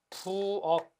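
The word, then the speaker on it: 부엌: 부억. 키읔 받침이 같지만 실제 발음은 부어크가 아니라 그냥 부억입니다.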